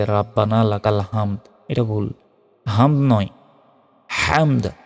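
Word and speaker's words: رَبَّنَا لَكَ الْحَمْدُ: আবার এটা বলতে হয় রব্বানা লাকাল হামদ আমরা অনেকেই ভুল উচ্চারণ করি বলি যে রাব্বানা লাকাল হামদ এটা ভুল হামদ নয়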